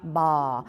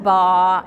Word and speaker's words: Baugh: Her name rhymes with aw, y'all, so it's Bobbi Baugh. Oh, Bobbi Baugh, she's so cute.